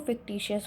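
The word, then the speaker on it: fictitious: इसका जो प्रोनाउंसिएशन है वो फिक्टिशियस होता है।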